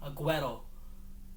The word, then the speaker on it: Aguero: queen leah el corrado aguero is how you say it where's your mom when